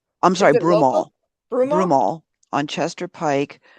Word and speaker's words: Broomall: Is that pronounced correctly? Oh, is it Bloomal or Broomal? I'm sorry. Broomall.